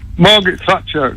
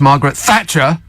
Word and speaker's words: Margaret Thatcher: to Cle the unions I think you pronounced her name wrong it's I think it's pronounced Margaret Thatcher yeah Thatcher is in